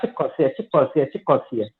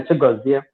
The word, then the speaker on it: Chigozie: So when she go to school, they will call her Chikosia. They can't pronounce the name Chigozie.